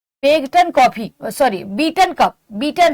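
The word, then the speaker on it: Beighton: अगला आपका है हॉकी में आगा Khan cup बेगटन coffee sorry beaten cup beaten है। बेगटन नहीं बीटन है। घट साइलेंट है इसमें जीए साइलेंट है।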